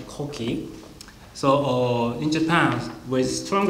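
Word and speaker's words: 古稀: So this is pronounced Koki.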